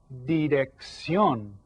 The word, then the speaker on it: dirección: And that's called la dirección. La dirección. And again, you see the accent there. That tells us to stress this syllable, la dirección. So you'll say it like that.